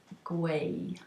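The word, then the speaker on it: gwau: want to say um knitting in Welsh it's guay there's your lesson your Welsh lesson for the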